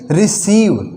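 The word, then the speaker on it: receive: है तो इस ई का थोड़ा सा लंबा उच्चारण होगा और इसको हम क्या बोलेंगे रिसीव रिसीव यानी लेना किसी से भी कुछ लेना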